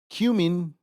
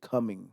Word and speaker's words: cumin: are added jalapenos chili cumin notice how I said it right I didn't say coming because I'm not coming I'm cuming no I